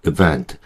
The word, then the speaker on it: event: 실제로 원어민들이 이걸 event 그래서이 i 발음을 정확하게 한다기보다는 힘을 다 빼고 발음해요.